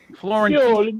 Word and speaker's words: Fiorentino: Let's do the Italian pronunciation of how I would do it. And it's Fiorentino, right? Fiorentino.